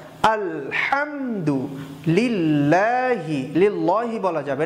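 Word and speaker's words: الحمد: ওকে, আলহামদু, এখানেও হাটা শক্ত করে, আলহামদু। আবার বলুন আলহামদু, আলহামদু বলা যাবে না, আলহামদু লিল্লাহি, লিল্লাহি বলা যাবে না, এখানে লামের আগে জের আছে, এই জন্য আমরা লিল্লাহি পড়ব।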